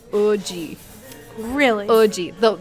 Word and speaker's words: Woozi: I would pronounce it Woozi. It's WOOZI from 17. The actual way you pronounce his name is Oji.